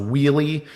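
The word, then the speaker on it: Wuille: guys like i peter it's pronounced wheelie um one of the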